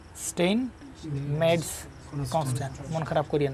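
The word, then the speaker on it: Steinmetz: important একটা জিনিস, এক্সটাকে বলা হয়, এর নামটা উচ্চারণ করা খুবই ঝামেলা, স্টেইন মেডস বলে আর কি, হ্যাঁ, এটাকে পরিচিত করা হয় Steyn meds constant, Steyn এমইটিজেড, Steyn meds constant, constant, তাহলে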